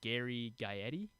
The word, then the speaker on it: Gary Gaetti: And then in 1987, you're gonna make fun of me because I can't say his name, but Gary Gaetti.